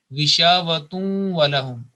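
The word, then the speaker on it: غشاوة ولهم: especially, then we have to make a assimilation with nasal sound. So in this case, it will be gishavatun walahum. Even on waw, there is a not tashdid, no shadda sign, but we will pronounce as it is there, waw with shadda, gishavatun walahum. Okay, so this is the rule. We can't say gishavatun walahum because this tanween at the end, that demands an assimilation with nasal sound.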